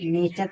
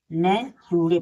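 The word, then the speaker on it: nature: एन ए टी यू आर ई इसे नेचर पढ़ेंगे क्योंकि देखिए टी के बाद यू आर ई दिया है इसलिए इसे नेचर पढ़ेंगे ना कि नए टूरे पढ़ेंगे पी आई सी टी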